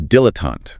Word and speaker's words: dilettante: Our next noun is dilettante. Dilettante. Sounds slightly fancy. Dilettante. Stress on the first and last syllables, dilettante.